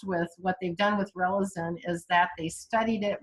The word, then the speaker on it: Relizen: So a great example is a remedy called Relizin. It's spelled Relizen.